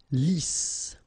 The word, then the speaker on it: Lisse: Double S here, so it's really a strong S. Lisse. Okay, don't insist on the final E. Lisse.